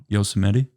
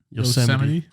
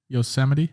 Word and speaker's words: Yosemite: Grand Teton also Zion no yosemetti shot up no yeah how do you say it Yosemite Yosemite oh yeah you're right yo somebody some money